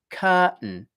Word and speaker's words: curtain: So if we look at the basic pronunciation, as I said, first syllable cur, second syllable tun.